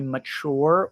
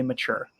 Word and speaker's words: mature: This word mature, there's two ways to pronounce it. You can say mature or you can say mature. I think both are correct.